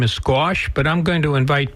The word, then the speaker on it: Skosh: Well, my name is Skosh. Skosh, very good. How do you spell that?